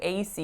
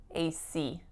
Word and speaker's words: AC: it correctly or not so for this one I'm not why not it's because of my stress right so in this case I should be saying AC C AC but what I said